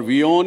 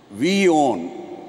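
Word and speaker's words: WION: और वियोन याने आप एक तो मानना है कि वर्ल्ड इज़ वन न्यूज़, पर दूसरा जिस प्रकार से हम उसका उच्चारण करते हैं, वी ओन, यू ओन, India ons this network.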